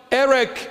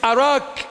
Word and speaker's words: Erech: The second one, Erech in English, but it's Arak in the proper pronunciation, which is Iraq.